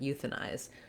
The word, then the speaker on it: euthanize: I prefer to call it diphthong I, because the length is actually short in this word, euthanize, because it's in an unstressed syllable.